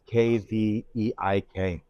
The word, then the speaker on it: Kveik: It's called Kvike yeast, so it's Kveik. And it's, Yeah. I was thinking I pronounced it incorrectly because that's from that area, right?